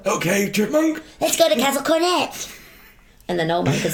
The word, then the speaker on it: Castle Cornet: Oh, how do you pronounce it, old man? Then what does he say? Castle Cornet. It's Castle Cornet.